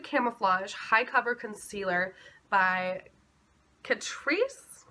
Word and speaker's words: Catrice: It is called the Liquid Camouflage High Cover Concealer by Catrice. Cat Rice? It's spelled like Cat Rice, but it's probably Catrice.